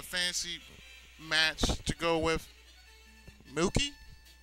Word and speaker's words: Mookie: Give me a fantasy team match off, a fantasy match to go with MOOKIE. Hey, it rhymes with Pookie.